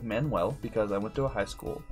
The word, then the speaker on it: Manual: it's manual rain but it's pronounced like manuel because i went to